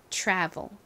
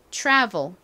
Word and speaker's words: travel: V e l 리옵니다 travel 따라해 보세요 travel t랑 알이 이렇게 나란히 오게 되면 t가 순수한 티읕 소리가 아니라 살짝 치읓 소리가 감이 된 소리가 난다라고 설명을 드렸었죠 그래서 트레블이 아니라 이렇게 발음이납니다 한 번 더 따라해